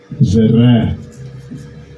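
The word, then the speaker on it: זרע: Okay, here's how you say it in Hebrew. Strong's H2233. Zerah.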